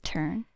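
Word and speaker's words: Ertthurn: er turn welcome welcome it's spelled e r t t h u r n okay okay well it's pronounced turn my name is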